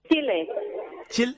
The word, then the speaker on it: Chile: Can I ask, how do you pronounce the name of your country? Is it Chile or Chile? Chile.